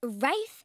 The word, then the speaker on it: Ralph: It's pronounced Rafe, and he's so dreamy.